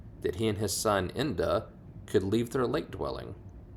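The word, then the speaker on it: Enda: a little bit uh that's spelled e n d a Inda on many a summer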